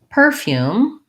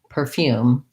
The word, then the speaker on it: perfume: So for the word perfume, the dictionary listed it both as perfume and perfume. Perfume. Now I don't know which one I say. I don't like the smell of perfume. I think I usually stress second syllable stress, but I know I also sometimes say perfume.